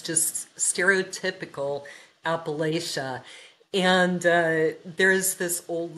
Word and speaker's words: Appalachia: So I have a funny story related to his writing as you know we now live in Appalachia or Appalachia as they say here and I have a hard time making myself say it like that.